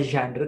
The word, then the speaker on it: genre: Oke, berikutnya ini adalah main genre ya, bacanya genre karena berasal dari bahasa Prancis.